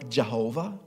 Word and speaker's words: Jehovah: And that is the Yod-Heh-Vav-Heh in the Hebrew language, and that's pronounced Yahweh or Jehovah.